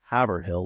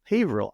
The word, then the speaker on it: Haverhill: it it's not pronounced havil I was like well how the heck am I supposed to pronounce it they said it's a long a I was like oh